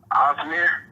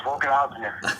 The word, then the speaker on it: Ozdemir: Ozdemir. I thought it was Volkan Ozdemir. The D is almost silent.